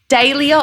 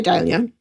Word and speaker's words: dahlia: before we recorded, but how do you pronounce Dalia? Cuz I've said it now. I can hear a few different ways today. Dia or Dalia? Okay, I say Dalia.